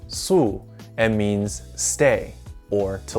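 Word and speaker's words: 宿: This character is pronounced su and means stay or to lodge.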